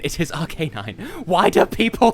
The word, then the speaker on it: Arcanine: do people pronounce it Arcanine it's Arcanine it is an Arcane canine it is Arcanine why do people call